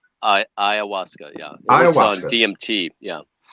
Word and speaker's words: ayahuasca: Yeah, let me ask you something, because as you're talking about, how do you pronounce it? Ayahuasca? Ayahuasca, yeah.